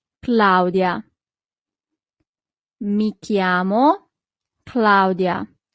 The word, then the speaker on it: chiamo: So, in Italian, that would be mi chiamo Claudia. Mi chiamo Claudia. Always remember that CH in Italian always corresponds to the sound K.